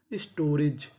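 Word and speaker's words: storage: मात्रा का काम करेगा और आखिरी में ई लिखा है। आपको पता है कि आखिरी में हम ई का उच्चारण नहीं करते। तो मीनिंग क्या बनी? स्टोरेज।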